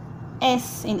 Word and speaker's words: س: This is same like S in English. Sin, okay? Sin, like sin.